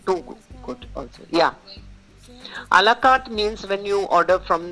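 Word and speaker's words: à la carte: Would you like to have a buffet or a la carte? Buffet is, you know what a buffet is, right? It's not buffet, it's buffet. Buffet, T is silent. A la carte is when you order separately on your menu.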